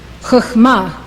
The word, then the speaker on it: Chokhmah: This is how they are pronounced. These 9 Sefirot emanate from Keter. Chokhmah, wisdom.